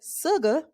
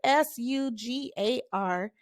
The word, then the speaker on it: sugar: carefully because you don't want to call it Suga it's not sugar sugar as we say in the South but the word with the single s with the s-u-g-a-r it is pronounced sugar we're gonna go on